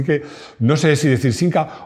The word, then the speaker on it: Simca: Cuando Simca era de Fiat. Me está volviendo loco Rodrigo porque dice que pronuncio Simca con N. Vamos a ver, que para una persona de Madrid no hay diferencia.